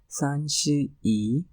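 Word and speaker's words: 三十一: one eighth month is August and 31 is sanchi e so this is how we pronounce 31 in Chinese language and it is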